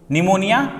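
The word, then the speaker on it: pneumonia: Pleuro न्यूमोनिया like organism, जिसमें न्यूमोनिया में P silent होगा, ठीक है।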